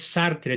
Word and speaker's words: Sartre: Paul sart sartre y se pronuncia sartr porque el francés se come la e final sí Entonces corrígelo por